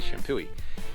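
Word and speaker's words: Champoeg: kind of the central wine country area is Champooi State Park. Now, it looks like it's pronounced Champo, but it's actually Shampooi.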